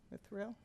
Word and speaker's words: Mithril: He told me how to pronounce it. Mithril?